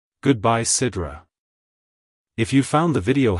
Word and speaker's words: Sidra: Origins it's pronounced as Sidra Sidra Sidra to pronounce it correctly emphasize the first syllable as ID and use a soft a sound for the second syllable ra like hello Sidra goodbye Sidra if you found the